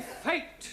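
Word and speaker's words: fete: the rule for example f e t e is also pronounced fate yeah one right no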